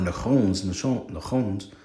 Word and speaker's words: Nachon: And when they came, Nachon's threshing floor, when they came to Nachon's, or Nachon's threshing floor, I'm not too sure how that one is pronounced.